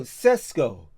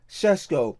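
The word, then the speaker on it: Šeško: Cesco. Shesco. Let me say his name properly. Shesco.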